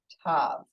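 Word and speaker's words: תו: leg kicks it out Tav okay that's spelled with the th makes the T sound as in Thomas all right so let's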